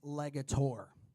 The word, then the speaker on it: Legator: guys who don't know it is pronounced legator it means to create a legacy so these guys are